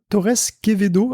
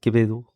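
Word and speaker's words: Torres Quevedo: fait plein de trucs le V se prononce B je crois enfin kebedo kebedo à peu près bon désolé je bon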